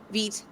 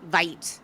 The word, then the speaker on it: Vite: I also just one thing that frustrated me at the very beginning was vite, because it's French, and so it's said as vite, VEET, not vite, which is how Yep.